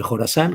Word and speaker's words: Jorasán: Pero en español se escribe Jorasán con J y con acento en la A.